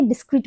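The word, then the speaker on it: discreet: सो 268 एंड 69 both words are different पर जो pronunciation है वह सिमिलर है क्वाइट सिमिलर है सो स्पेलिंग कैसी होगी इसकी डी आई एस सी R double E टी सो इसको हम क्या बोलेंगे डिस्क्रीट बोलेंगे ये क्या है यह एक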